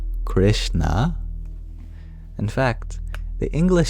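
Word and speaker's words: कृष्ण: The SH is an approximate for the retroflex sh, which sounds very similar to the English sh, but it's pronounced very differently physically.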